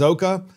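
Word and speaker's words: Szoka: say this guys net last name says oka I think that's how you say his last name it's s Z okay a he's a tech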